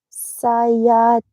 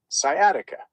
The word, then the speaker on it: sciatica: And the other word she said, I have a chronic bilateral lower back pain without scatic or sciatisa. You've got it. Sciatica.